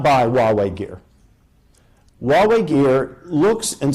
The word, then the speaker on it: Huawei: One of the questions that I deal with NATO and with the US government is the issue of Chinese equipment, Huawei, spelled Huawei, rhymes with Amway.